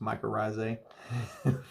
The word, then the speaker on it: mycorrhizae: a fungus and uh it's uh pronounced mycorrhizae for anybody that brutalizes it like i used to